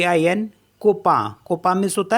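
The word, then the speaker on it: copain: tomorrow and सी ओ पी ए आई एन कोपा कोपा मीस होता है friend ऐसे है आई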